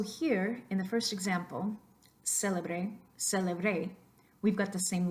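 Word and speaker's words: célebre: So the first one, if you could repeat after me, do a little exaggeration, kick it up a notch to make sure that you're accenting the first syllable there.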